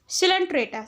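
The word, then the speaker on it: Coelenterata: Second phylum है हमारा सिलेंट्रेटा। सिलेंट्रेटा क्या होता है, उसके पास निडेरियन, तो निडेरिया भी बोलते हैं, सिलेंट्रेटा को हम निडेरियन भी बोलते हैं। सी हमारा साइलेंट होता है इसमें।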